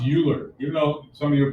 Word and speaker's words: Euler: of five okay all right excellent okay so euler's formula no it's not pronounced euler even though some of your problems like euclid